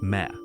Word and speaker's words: Me: Central to Sumerian mythology and governance are the Me, pronounced Meh, often translated as divine decrees or fundamental principles.